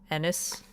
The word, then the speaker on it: Ennis: Ennis? It's like Dennis. Take away the D.